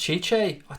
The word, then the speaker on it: Tite: It's pronounced Chiche. It's Tite for me, mate.